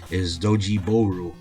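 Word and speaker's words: ドッジボール: I think actually dodgeball is pronounced Doji Boru.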